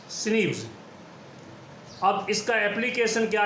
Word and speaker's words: SNP: There are about 1.4 million locations where DNA of different persons differ in single ways, called single nucleotide polymorphism, pronounced as SNPs.